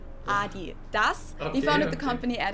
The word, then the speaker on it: Adidas: were referring to because they usually pronounce it Adidas, and in Germany we say Adidas.